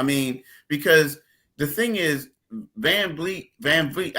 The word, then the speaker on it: VanVleet: I mean, because the thing is, VanVleet. I always mispronounce the guy. I want to say Fleet. I want to say Fleet every time.